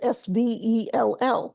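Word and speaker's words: svell: So I italicized it and spelled it as S-V-E-L-L, Svel, because that's what they would have heard. That's how they would have pronounced it.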